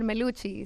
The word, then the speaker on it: Meluchis: Meluchis. Meluchis is in the building. Rhymes with blue cheese.